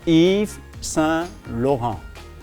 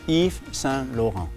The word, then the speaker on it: Yves Saint Laurent: So in French it is called Yves Saint Laurent. Yves Saint Laurent. Okay? YSL okay, but Yves Saint Laurent is better.